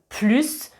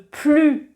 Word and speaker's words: plus: Et si je dis « je ne veux plus de vacances », ça c'est dans le sens négatif. Je ne veux plus de vacances, je ne prononce pas le S du plus quand c'est dans un sens négatif.